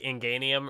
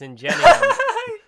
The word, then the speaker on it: Ingenium: obviously, and so, like, they pronounced it like Inganium or something. And yes, I was like, oh, they always... okay. I don't know that this is an English word, so that makes sense. I'm gonna pronounce it this way. And then everyone in my comment section was like, "You fucking idiot! It's Ingenium."